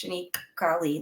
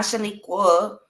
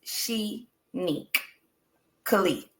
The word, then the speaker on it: Shanique Kali: It's Shanique Kali. That's how you say it. Okay. You can go on and say Kali, but don't say Shaniqua.